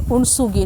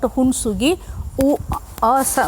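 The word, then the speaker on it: Hunsgi: The pronunciation is it is Unsugi, not Hunsugi. Sound it is coming, Unsugi.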